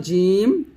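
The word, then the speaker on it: ج: ছয়টা এক হলো জাহর জাহর মানে হচ্ছে বাতাস বন্ধ মানে জিম যখন উচ্চারণ করবেন বাতাস বন্ধ থাকবে বাতাস বের করা যাবে না সিদ্ধত মানে আওয়াজ বন্ধ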